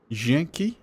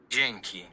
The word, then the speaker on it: Dzięki: Dzięki. Janky? Janky? Dzięki.